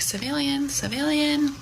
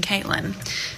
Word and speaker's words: CVIIILYN: I really feel like that would be pronounced civilian. So he goes out into the waiting room and he's like, civilian, nothing.